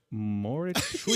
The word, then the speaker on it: Mauritshuis: Moritz-Shui.